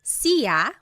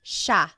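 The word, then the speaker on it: siya: It looks like it should be pronounced sa, but it's actually pronounced sha sha.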